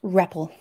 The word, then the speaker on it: REPL: You can open the interactive shell by clicking the REPL? It's pronounced REPL.